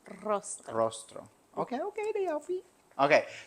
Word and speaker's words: Rostro: say your last name rostro rostro you got to roll the RS rostro rostro okay okay they